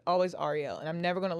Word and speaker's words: Arielle: I always always if anybody calls me Ariel, it's never Ariel. Always Ariel. And I'm never going to let you call me Ariel because that's not who I am.